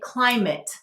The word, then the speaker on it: climate: of the e now we're hearing it say climate we're hearing it say it so what is